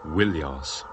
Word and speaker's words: Ilios: In the Iliad, Homer calls the city by two names, Troia and more often Ilios, originally pronounced Willios.